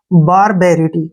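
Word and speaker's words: barbarity: तक पढ़ते हैं इसको, BAR क्या हो गया, बार, ठीक है ना। और यहां से इकट्ठा पढ़ेंगे इसको, BA का उच्चारण हो गया बे के रूप में, RI का हो गया री, और T का टे हो गया, और Y का ई, ठीक है ना। बारबेरिटी क्या पढ़ेंगे इसको, बारबेरिटी।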